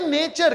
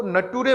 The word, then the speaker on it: nature: सर एक spelling था NATURE और मुझे लग रहा था ये नेचर की तरह, लेकिन आपके बेटा ने कहा सर नेचर ने, इसको नटूरे बोलेंगे। तो उसके पिताजी ने कहा